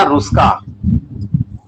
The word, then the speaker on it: Ruska: Knoll, इसकी spelling है KNOLL, और तथा रुस्का, एक दूसरे वैज्ञानिक थे रुस्का, RUSKA।